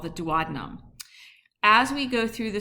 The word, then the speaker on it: duodenum: So the three portions are the duodenum which is the ... shortest portion, and I've also heard it ... pronounce duodenum- but that always makes me think ... of Batman and Robin for some reason- notice the ...